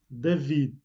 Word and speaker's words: David: Euh, mais en portugais, il prend un D à la fin et légèrement, vous le prononcez David, Jacob, Isaac, Gareth.